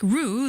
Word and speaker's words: ro: In Norwegian, the word row is R-O, pronounced like roo.